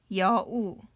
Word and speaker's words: 여우: And 이응, 자음, no sound, and 우 is just you. 우. So this is 여우. 여우 is fox. Fox in Korean is 여우.